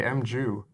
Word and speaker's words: Mju: didn't even notice no what did I say mu you used to say MJ is okay yeah whatever professionally resource about fixing